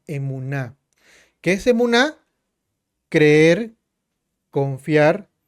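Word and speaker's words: אמונה: La fe que en hebreo se pronuncia emuná.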